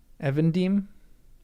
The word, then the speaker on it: Evendim: Evendim. Evendim. Evendim. Evendim. Evendim. Evendim. Evendim. Lake Evendim. Evening, and dim as in dim.